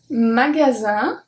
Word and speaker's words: magasin: So the G is a hard G because it's followed by the A. The S make a Z sound, and IN is pronounced un. Magasin.